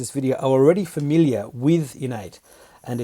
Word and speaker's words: InEight: love your name because it sounds like the word innate which is you know i double and ate which is sort of an inborn natural ability but what's the story behind the name innate yeah it's an interesting